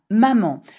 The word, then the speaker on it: maman: Ma maman. And remember, there is an N at the end of maman, you do not pronounce it.